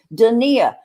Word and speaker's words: Donia: yeah yeah yeah and i said dania because i asked jiggy her son how do you say your mom's name dania and he says dania but on her facebook